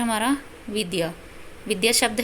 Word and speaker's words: विद्या: से लिखा जाएगा जैसे विद्यालय में। तो इसका उच्चारण क्या होता है? द य विद्या।